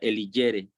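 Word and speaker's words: eligere: de El hiere elijere se escribe eligiere la palabra ley la palabra ley según cicerón se deriva de elijere y se pronuncia elijere Pues él decía que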